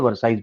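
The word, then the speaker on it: Versailles: और उसके बाद 8 जनवरी 1871 को एट पैलेस ऑफ, दोनों फोटो दिखाऊंगा, वर्साइज, एल नहीं प्रोनाउंस होता है इसके अंदर, इसको वर्सलीज नहीं बोलते, वर्साइज बोलते हैं।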